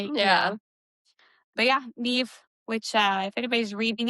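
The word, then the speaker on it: Niamh: But yeah, Nev, which uh if anybody's reading it, that's how you pronounce N I A M H. Nev. It's Irish.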